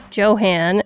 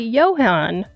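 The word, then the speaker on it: Johann: lost connections author's name I called him Joe Han and it's actually Johan so I needed to correct that well very Johan I'm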